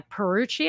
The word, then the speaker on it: Pierucci: the name of the book, American Trap by Perucci, I think. Is that how you pronounce it? Pierucci.